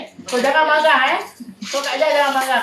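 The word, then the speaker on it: مرأة: Mir'ah dengan mar'ah. Baris bawah dengan baris atas.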